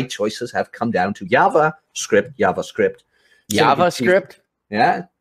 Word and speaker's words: JavaScript: It's JavaScript, not JavaScript. This isn't Mexico. This isn't like jet. Yeah.